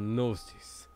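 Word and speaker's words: Gnosis: G is oh it stands for nosis that's right nosis that's the that is the pronunciation so yeah they're back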